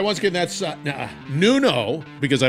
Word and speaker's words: Nuno: All right, once again, that's Nuno, because I mispronounced it in the beginning.